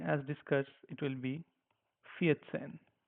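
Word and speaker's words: vierzehn: it will be faten make sure we don't read this as V we have to read it like f which is like faten faten f e a set a ha n Fen okay don't call it as ven okay because when you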